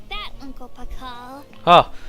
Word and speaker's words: Pakal: There's no need to be like that, Uncle Pakal. Ah, finally someone whose name is pronounced at the way he's written, Pakal.